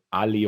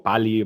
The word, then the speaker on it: Pa11y: grandes que son AXE, AXE y PA11Y, PALI o PALI, bueno, gente que lo pronuncia de diferente manera.